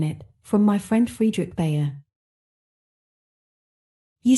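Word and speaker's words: Bhaer: Now don't laugh at his horrid name, it isn't pronounced either bear or beer, as people will say it, but something between the two, as only Germans can give it.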